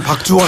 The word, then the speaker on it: 박주원: 박주원. 발음을 잘해 주십시오. 박주원 전 최고위원입니다. 근데 사실 따지고 보면 또 저 국회 부의장은 박주선 의원도 계시잖아요. 최고위원은 박주현 최고위원도 계세요. 그렇군요. 예, 맞습니다. 그러니까 이 발음을 좀 유의해 주십시오.